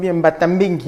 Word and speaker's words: Mbatambengi: J'ai essayé de me documenter, de voir que dans votre village, j'espère que je l'ai bien prononcé, Mbatambengi. Oui, c'est bien ça.